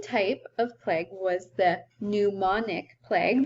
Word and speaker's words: pneumonic: of plague was the pneumonic plague that's a silent P pneumonic um this was less